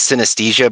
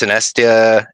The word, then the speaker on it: Synestia: It's called the Poetic Edda by I want to pronounce it as synesthesia, but I know that's not what it is. It's synestia and disembodied, and it's fucking